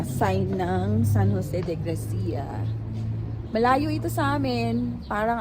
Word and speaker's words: Gracia: Hindi daw yan ano kasi tayo pag pino-pronounce natin grasya. Wala daw silang ano sound na ganon siya. It's San Jose de Gracia. Gracia.